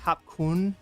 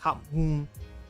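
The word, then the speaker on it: ขอบคุณ: Looks like Kap Kun. That's how most people will pronounce thank you, Kap Kun. But it's actually more like Kap Mun, because it's somehow it's smashed up in that word, and so it doesn't get pronounced.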